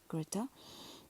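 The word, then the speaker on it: Grete: great greata greata greata that's how the German pronunciation is greata he is a traveling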